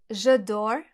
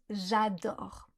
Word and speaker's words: adore: L'exemple que je donne souvent c'est celui des anglophones qui disent souvent : « J'edore » au lieu de « J'adore ». Si vous prononcez mal le A dans adore on comprend je dors.